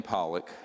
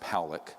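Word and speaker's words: Pawelec: views this man William poock it's pronounced poic uh was a man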